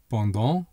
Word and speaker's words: pendant: Pendant means during, or in this case, for. Notice that the final T is silent.